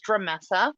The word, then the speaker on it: Dremessa: I'd love to so um my name is dramessa that's spelled d-r-e-m as in Mary e s s